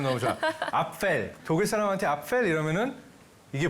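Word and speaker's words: Apfel: 발음 너무 좋아. 앞펠.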